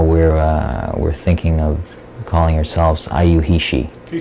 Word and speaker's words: YIUHISHI: Actually, we used to be called Graphic Warehouse, but now we're thinking of calling ourselves IU He She. Can you spell that?